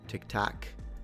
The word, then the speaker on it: Tic Tac: Is this like one of those Tic Tac, which is funny because it's spelled TAC, right? Tac, but it makes me feel like I'm saying TikTok with some kind of Northern American accent.